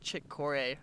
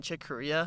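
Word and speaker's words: Corea: you know i never i hear someone say chick korea so i thought it was like chick corey or something oh no yeah did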